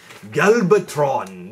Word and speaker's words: Galvatron: here is a galatron galatron this is H that's how you would pronounce Galvatron in Japanese that would be galatron and Galvatron looks good